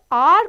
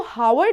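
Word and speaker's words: hour: घंटा पढ़ते हैं ओके तो आर को एच से स्टार्टिंग तो हो रही है लेकिन साउंड किसका आ रहा है वल का ठीक है आर हम इसको हावर्ड नहीं पढ़ते स्टूडेंट्स आर पढ़ते हैं दैट्ची साउंड लाइक यू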